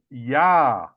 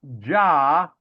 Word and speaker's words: Yah: 1500s, which means that we pronounce the shortened or contracted form of the Father's name as Yah, not Jah. We pronounce it as Yah.